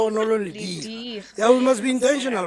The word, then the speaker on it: Lediga: You pronounce Lediga.